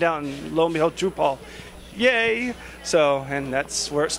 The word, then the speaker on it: Drupal: When we came in, we were on Drupal 4.7. And we should mention Drupal. Oh, Drupal. Now, you say Drupal, I say Drupal. Drupal's the correct pronunciation.